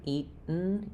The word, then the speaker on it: eaten: Uh you definitely don't need a strong vowel there. I would say it's probably easier to think of it this way with the e sound unreleased t and the n sound. No other sound.